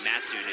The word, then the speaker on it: Mattoon: The reason I know how to pronounce it, Mattoon, is from Will Leach.